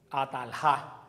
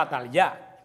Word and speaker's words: Atalía: otras gentes por ahí, ¿cómo hubiera sido el nombre? Ataljá, no Atalyá, hubiera sido Ataljá, pero el nombre es Atalyá, porque quiere decir Yahvé manifestó. Por eso los judíos no tenían el nombre, la pronunciación J, lo pronunciaban casi como la Y de nosotros.